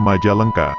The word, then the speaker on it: Majalengka: Diduga karena pelafalan yang sulit, sehingga orang Sunda menyebutnya Majalengka, Majalengka, Hingga akhirnya nama Kabupaten Majalengka tidak terlepas dari kisah tersebut.